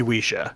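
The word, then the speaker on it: Ouija: and sales and then some people say it's supposed to be wisha so there are people correcting it oh no that I'm getting out of that cess pool get out of there run I've I've always said oua um but there's a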